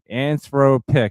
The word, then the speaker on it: Anthropic: Anthropic.